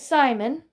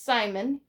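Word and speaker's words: Psimon: that means is his Simon Ben with the P because the P is silent it's Simon who was gonna be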